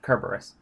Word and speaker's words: Kerberos: with capturing Hades hellhound cur Buress I'm aware that most people pronounce it Cerberus but in Greek it's spelled with a Kappa not a Sigma that being said the